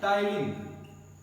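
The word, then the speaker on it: ptyalin: उससे क्या बोलते हैं टायलिन क्या बोलते हैं टाइल टी साइलेंट है तिल यह भी कई बार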